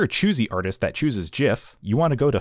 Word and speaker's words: GIF: or into images and gifs and yes it's pronounced Jeff fight me so that way we can share with the world there's two ways you can do this if you're a choosy artist that chooses jiff you want to go to file export animation